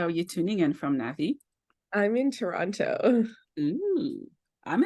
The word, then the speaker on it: Navi: Today's special guest is Navi. Is that how I pronounce her name?